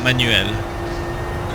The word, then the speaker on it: Manuel: This guy is called Manuel though. Or Manuel, if you pronounce it the correct way.